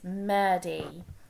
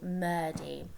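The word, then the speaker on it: murti: here five and six so it's murdy okay it sounds like a d in the middle murdy so these images of the gods and gods s's are called murdy okay so hindus worship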